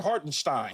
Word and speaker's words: Hartenstein: Hartenstein.